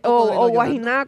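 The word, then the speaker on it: Guaynaa: El Guayna, Guayna, como dice George. Con acento en la última. Sí, que George lo dice así. Guayna. ¿Ah? Bueno, pues si él no quiere que yo le diga así, que pues que le quite la A.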